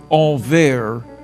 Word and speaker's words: Anvers: Antwerp is pronounced Anvers in French and Antwerpen in Flemish.